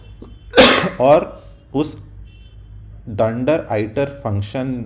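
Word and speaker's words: dunder: और पीछे आते हैं उसको पाइथन में डेंडर मतलब उसको प्रोनाउंस करते हैं डेंडर उसका स्पेलिंग होता है डू एंड डी ए आर जिसका मतलब होता है डबल अंडरस्कोर का शॉर्ट फॉर्म है वो डंडा तो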